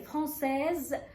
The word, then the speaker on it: française: أما في الصفة المؤنثة اللي هي فرانسيز، لما ضفنا لها الإي علشان نأنس الصفة، أصبح آخر حرف عندي هو الإي، فإذا مسموح لي إن أنا أنطق الإس، فعلشان كده نطقت وقلت فرانسيز.